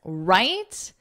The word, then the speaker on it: write: Of course, write is pronounced the same as right, the opposite of wrong, but in this case, it's right. The W is silent, so phonetically, it would just look like this.